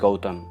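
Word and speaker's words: Gautam: full name okay so how it is supposed to be pronounced is gotem but let's let's see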